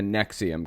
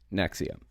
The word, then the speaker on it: NXIVM: this episode is gonna be talking about the neck see'em cult that's how it's pronounced and ex IVM it's pronounced nexium we're gonna be going through it a little